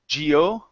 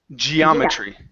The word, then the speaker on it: geometry: uh this last word instead of Gio it's Gia geometry GE geometry MH good